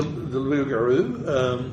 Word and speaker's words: loup-garou: Is that how you pronounce it, loup-garou? Yes, the loup-garou.